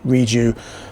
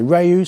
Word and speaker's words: Rieju: Some people say Rieju, some people say Rieju, some say Rieju, some say Rieju. We don't mind, as long as the name's out there, we don't care how it's pronounced.